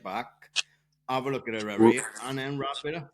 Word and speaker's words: Eryri: And Snowdonia Ultra Trail, and then there's Marathon Eryri, which is the road marathon in October. That was very good pronunciation.